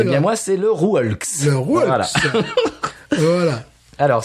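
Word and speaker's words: Le Rœulx: Le Rouelx. Voilà. Tu as un petit accent. Le Rouelx. Voilà. Tu dirais ça comment, toi? Je dirais le Reuil.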